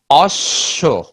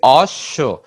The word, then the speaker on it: অশ্ব: যেমন অশ্ব, আমরা কি বলছি? অশ্ব। এখানে যে স আছে, স কয়বার উচ্চারিত হচ্ছে? দুইবার হচ্ছে, এবং কিছুটা অবধ হয়ে যায়।